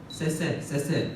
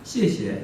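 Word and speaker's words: 谢谢: 우리도 발음하면 조금 웃긴 발음들을 하잖아요. 아직도 중국 10년 차인데도 쎄쎄 하는 분들이 있습니다. 제가 시에시에 이러면 어디 중국 어디 출신이세요?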